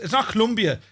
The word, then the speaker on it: Colombia: It's not Colombia, it's Colombia. Ask anyone from Colombia and they'll tell you it's pronounced Colombia.